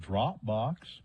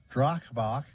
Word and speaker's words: Dropbox: again donald truth social he messed up the pronunciation of the word dropbox yep he said drachbok uh this is not the first time that donald trump has called dropbox's drock box okay i'm sorry i